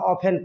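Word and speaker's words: often: हाउ ऑफेन टी जो लगा हुआ है टी प्राय कैसे? प्राय कैसे टी इसमें साइलेंट रहता है। हाउ ऑफेन पढ़ा जाता है।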